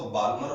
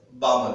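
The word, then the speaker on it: Balmer: बामर series, बेटा इसमें L क्या रहता है, साइलेंस रहता है। कुछ लोग इसको बाल्मर बोलते हैं, ऐसा नहीं है, इसमें L क्या रहेगा, silence, that is pronounce as बामर series.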